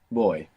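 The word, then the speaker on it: voy: our way through it the word for I go or I'm going in Spanish is boy boy boy good now this is actually spell v o y now the v in Spanish can sound like a v in English like a V or it can sound like a soft B like boy you might be familiar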